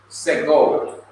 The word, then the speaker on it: segol: It is a sign of the short vowel segol. Segol. It is pronounced e. It is pronounced e, as in bed.